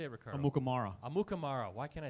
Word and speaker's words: Amukamara: Amukamara.